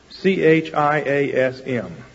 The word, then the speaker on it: chiasm: way of writing things is called a chiasm c-h-i-a-s-m it's the way that's spelled chiasm a chiasm is a literary form